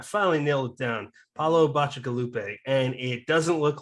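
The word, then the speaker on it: Bacigalupi: He writes sci-fi, and I had to look up how to pronounce it, but I finally nailed it down. Paulo Bacigalupe, and it doesn't look like that, at least to me.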